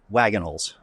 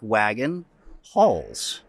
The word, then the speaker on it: Wagenhals: It sounds like wagon halls. Right. But it's not spelled that way. No. Wagenhals. Well, I guess the German way would be Wagenhals.